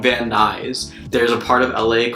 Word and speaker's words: Van Nuys: I was even pronouncing everything wrong I was pronouncing this one city but noise but it's actually called Van Nuys there's a part of LA called Los Feliz